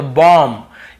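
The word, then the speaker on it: bomb: यहां पर भी बी को नहीं पढ़ना है तो बॉम्ब।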